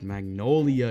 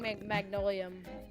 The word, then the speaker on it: Magnolia: No, it's Magnolia, you absolute Magnolia. buffoon. Magnolia. Oh It was my so, god. dude, that was hard, bro. You don't even know how to pronounce Magnolia. I kept saying Magnolium.